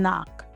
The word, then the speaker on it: knock: Examples include no, knee, knife, and knock. When you see KN, you don't prepare your mouth for a K sound. You immediately start with the N.